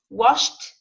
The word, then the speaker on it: washed: Now the pronunciation is t, washed, watched. T, t. In both sounds, the pronunciation at the end is t, t, t, t.